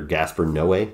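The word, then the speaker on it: Gaspar Noé: climax by the director Gasper no way I think is how you pronounce his name and he always makes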